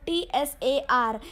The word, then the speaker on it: Tsar: Now this you can see the word TSAR. The T is silent there, so we pronounce it as Tsar or Tsar, whatever, Tsar or Tsar.